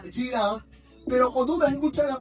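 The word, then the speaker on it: יראה: La palabra temor es una palabra que en el idioma original se escribe o se pronuncia yirá, pero cuando uno escucha la palabra temor, ¿qué se le viene a la mente?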